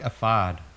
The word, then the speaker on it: ephod: I think ephod I like. I'm not quite sure. I have no opinion. E-P-H? Yeah. Ephod. F. Just make an F noise.